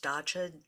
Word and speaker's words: dacha: Russia has always had this I think it's pronounced dacha d-a-c-h-a program that um supports backyard gardening so